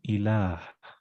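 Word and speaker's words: إله: And then the ayah is saying ilah and lam, and it got a ha here. Ilah, it's spelled like that, but pronounced ilah with that standing fatha that you put.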